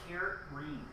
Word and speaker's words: Corinne: She says it's Kareen.